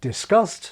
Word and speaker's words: discussed: There was once a boundary in discuss, but it's faded away so that discussed sounds like disgust.